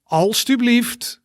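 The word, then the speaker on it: alstublieft: all right repeat one more time after me all stu believed all stu believed good else you believed als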